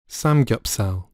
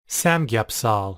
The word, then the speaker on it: samgyeopsal: Samgyeopsal. Samgyeopsal. 자, 이렇게 발음한다고 되어 있고 뭐 이게 어떤 건지는 우리는 다 알고 있으니까 설명이 어렵지는 않을 거고요.